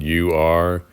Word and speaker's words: Ur: It's spelled U-R. I think you say it Ur, like Coors, but Ur.